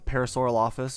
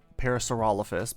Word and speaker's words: Parasaurolophus: blurb about um uh parasaur office or Parasaurolophus both pronunciations are fine I tend to say